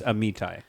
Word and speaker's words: Amitai: our guest for today, Amitai Marmorstein. Amitai Marmorstein. Hello. Amitai Marmorstein, welcome to the pod. and I believe it's Amitai, just to be clear.